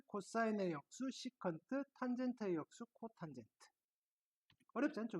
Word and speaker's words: 시컨트: 어떻게 표기를 할 하냐면은 s e c x고 쓰시고 얘는 시트라고 읽어 주시면 되겠습니다 시컨트 시컨트 시컨트 괜찮죠 자